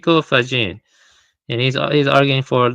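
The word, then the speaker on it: Faggin: I was pronouncing his name wrong before, but it's Frao Fajin.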